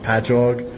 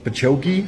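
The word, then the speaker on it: Patchogue: we have it will be like patchog and they'll be like pachokei and I'm like no it's it's just ingrained into my brain that I know how to say them.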